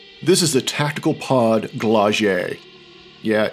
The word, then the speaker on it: Glaug: is a tactical pod glagier yeah it's a soft G not a hard G it's from the 80s